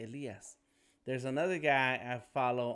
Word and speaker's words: Elias: It's like there's a smoother way to say that in Spanish. What's up? Oh my God! Hey, what's up, Tony? My man, Tony. What up? What up? Elias came in on Behance.